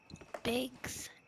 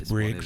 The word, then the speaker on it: Briggs: Bigs or is it Briggs? Are you saying it right the second time? It's Briggs.